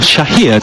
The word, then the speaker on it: Chair: Cook out to the right hand side to Chair, or Shahir to give him his proper pronunciation, but Chair very much the accepted way of saying his surname in these parts.